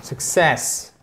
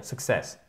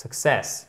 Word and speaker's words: success: Et faites bien attention, c'est success. Ok, le stress, success. Il est sur la seconde syllabe. C'est vraiment un piège pour nous francophones parce qu'on a tendance à dire success. Non, c'est success.